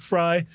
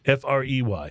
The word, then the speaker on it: Frey: And I pronounce it Fry because that's the way the late, great Glenn Fry of the Eagles pronounced his name. But it's spelled the same, F-R-E-Y. If it's Frey, I'm sorry, I'm sticking with Glenn.